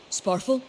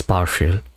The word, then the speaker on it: Sparfael: Sparful, are you all right? Look guys, I did get at least one pronunciation right. It's Sparfael. Okay, so I'm not that bad.